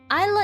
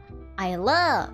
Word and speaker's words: Isla: difficult for example um isla is a correct pronunciation right but people can like call me ayla or ah i i let go a little something like that they can pronounce my